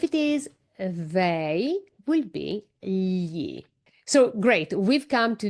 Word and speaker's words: gli: Careful with this pronunciation is gli.